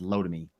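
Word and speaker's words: Lotame: these um estimates great it's l-o-t-a-m-e it's pronounced low to me low to me i don't even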